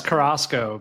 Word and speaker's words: Carrasco: It's Carrasco, but it's Carrasco, been I pronounced knew multiple that.